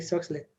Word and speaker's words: Soxhlet: ¿Cómo se pronuncia? Ah, ok. Sí. Solid, ¿no? Sí, Soxlet.